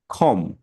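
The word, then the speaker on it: comb: বাট এটার উচ্চারণটা কি ল্যাম উপরেরটা কি খম মানে হচ্ছে বিটা উচ্চারণ হবে না তাহলে হচ্ছে কি খম বা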